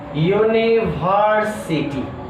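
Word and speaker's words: university: जैसे देखिए ए कहाँ लगेगा, जैसे यूनिवर्सिटी, इसका पहला अक्षर क्या है, यू, तो इसका मतलब एन लगना चाहिए, लेकिन एन नहीं लगेगा, क्योंकि इसका उच्चारण जो हो रहा है वो हो रहा है य से, किससे, य से, इसलिए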